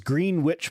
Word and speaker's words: Greenwich: oh here we go it is green witch but one word so green witch i